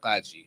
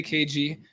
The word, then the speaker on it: Qaji: So the way we pronounce it in Arabic Chaldean is Qaji. Qaji. Right? Yes. Yeah. And In English. the English, I say KG.